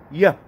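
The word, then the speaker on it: יה: Y el nombre que estoy traduciendo por Dios, de entre los posibles, es el nombre que se pronuncia Yah, que es la primera mitad del tetragramatón.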